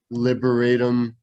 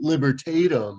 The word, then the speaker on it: libertatum: see so of course they're promoting their new liberatum liber libertatum i've been saying it wrong i should probably